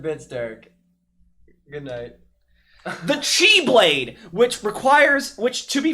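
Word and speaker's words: χ-blade: this is the x-blade x in this case is pronounced as the chiefly for the 100 bits derek good night the chi blade which requires which to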